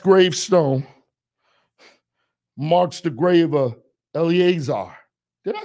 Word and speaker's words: Eleazar: the last gravestone marks the grave of Eleazar did I say it right yeah I said it right early Azar he was the son of Aaron the first